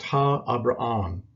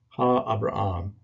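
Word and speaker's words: Ἀβραάμ: You see the name for Abraham, the patriarch of the Old Testament, and it's pronounced Ha-Abraham, Ha-Abraham. And what we have here is the definite article before Abraham.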